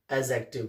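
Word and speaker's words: adjective: क्या बोलते हैं? एडजेक्टिव। डी साइलेंट रहता है।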